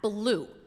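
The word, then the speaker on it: BLUU: experiences then we have blue blue black lives of unitarian universalism it's pronounced just like the color and it's a group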